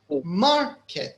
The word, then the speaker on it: market: So yes, is it on the first syllable or the second? It's the first, right? So we say market. So mar is louder than kit.